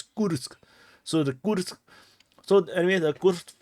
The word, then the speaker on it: Kursk: So the proper pronunciation is Kursk.